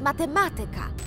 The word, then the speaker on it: matematyka: jeżeli chcemy zmienić czas jednym z takich częstszych słów które są często mylone jest matematyka pomyślcie sobie matematyk matematyka Akcent pozostaje w tym samym miejscu są też nazwy które